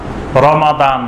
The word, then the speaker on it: রমাদান: শুধু রমাদান মাসটি এমন একটি মাস আল্লাহ পাক এটার নাম উল্লেখ করে বলছেন শাহরু রমাদান, রমাদান মাস। আমরা এটার রমজান মাস বলি, কিন্তু শুদ্ধ উচ্চারণ হলো রমাদান, শাহরু রমাদান।